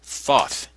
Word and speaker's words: Thoth: up by thought thought is the egyptian god thoth the creator of almost every activity known to man thought is spelled t-h-o-t-h this god is responsible for the